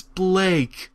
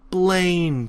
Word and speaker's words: Blake: It's Blake, not Blaine, people.